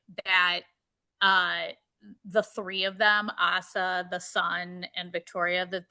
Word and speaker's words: Asa: Asa. We're calling her Asa. Yeah, Asa. Yeah, Asa. I wrote it down phonetically.